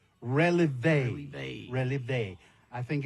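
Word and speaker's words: relevé: It was them dancers that performed from the Relieve Studio Dance Group. Oh, no, son, I think it's pronounced releve.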